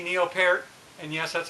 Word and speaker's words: Peart: was it c neil peart and yes that's how you pronounce his name according neil like the fruit he'll pair he he